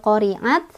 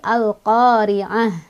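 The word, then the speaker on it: القارعة: berhenti dia jadi hak-hak besar ya buka kanal koriat tapi al-qariah jadi hak gede Ya Sukun makhluk khoriah Hai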